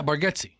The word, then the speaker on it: Nate Bargatze: Is it Nate Bargatze? How do you say his name? Yeah, Bargatze.